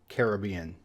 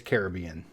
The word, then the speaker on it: Caribbean: single person on every single Island we've met pronounced it Caribbean so I'm going to go ahead and go with the locals on this one and it's Caribbean here's one that I think a good majority